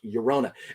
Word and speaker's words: Llorona: Double L in Spanish pronounced like Y in English, Llorona.